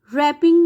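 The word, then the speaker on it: wrapping: कलाई को कहते हैं रैपिंग में भी डब्लू साइलेंट है आर से इसका साउंड शुरू होता है तो दीज आर साइलेंट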